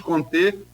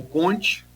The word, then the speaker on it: Comte: O positivismo é uma escola de pensamento fundada pelo sociólogo francês Auguste Comte, ou Comte, dependendo aí da pronúncia, que pregava a supremacia do fato científico acima de tudo, né?